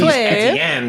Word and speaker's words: Etienne: So it is Etienne. That is actually how you are pronouncing my name.